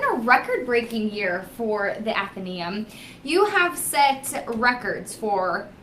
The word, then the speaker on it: Athenæum: to pronounce it is athenium okay and it's uh it's sort of like Athena and then the last part of Museum and that's kind of